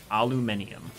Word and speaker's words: aluminium: So, I will say that the English pronounce aluminum way cooler than we ever could. Yeah, I think... Aluminium.